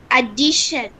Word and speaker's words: addition: The stress is on the syllable before TION.